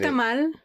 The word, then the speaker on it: tamal: You see, now I'm saying tamal.